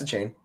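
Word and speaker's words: Achane: How do you say it? Yep. Yeah, it's a chain.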